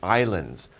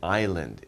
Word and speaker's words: island: so we call these islands by the way we don't pronounce the s in island it's just island not